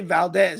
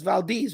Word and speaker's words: Valdez: you pronounce it right I don't say Valdez it's Valdes right how you pronounce it